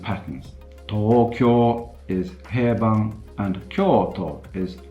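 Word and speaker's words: 東京: So, for example, the Japanese word for Tokyo is Tokyo, or if I exaggerate that a bit, Tokyo, whereas the Japanese word for Kyoto, surprise, surprise, is Kyoto.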